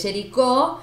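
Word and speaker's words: Géricault: A ver, vamos de vuelta con la pronunciación del francés. Lo dije bien. Jericho. No sé cuál es la correcta. En este caso para mí es Jericó. Acuérdate que la T no va. Listo. Entonces, es Jericó, que bueno, podríamos considerarlo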